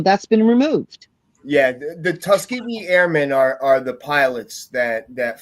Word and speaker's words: Tuskegee: you got to with the Pentagon, like the Muskogee, is that's how it's pronounced? Airmen. That Tuskegee. story. It's Tuskegee.